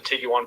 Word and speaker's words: Tiguan: there there's Harley's uh Jetta and there's the Tigo one you picked up the Tiguan pronunciation now too that motion that we see